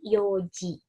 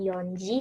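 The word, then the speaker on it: 四時: Tapi yoji. Nggak ada N-nya ya, yoji. Jadi bukan yonji, tapi yoji.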